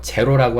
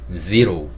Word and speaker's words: zero: 그 다음에 숫자 0도 제로, 우리는 제로라고 많이 하죠. 제로라고 하지 않고 zero 이렇게 발음을 하셔야 됩니다.